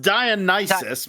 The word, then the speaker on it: Dionysus: like the Greek god Dionysus I am sitting on my perch on the top of the world eating my grapes going yes entertain me it's pronounced dionis but that's I know